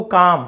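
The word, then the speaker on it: calm: व्हाई इज he always so काम? व्हाई? क्यों? इज़ यानी है ही यानी वह ऑलवेज हमेशा सो काम। यहां पर भी एल को नहीं पढ़ेंगे। साइलेंट लेटर है एल।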